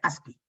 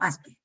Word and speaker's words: ASCII: Es ASCII, con 2 I latina, pero se pronuncia ASCII.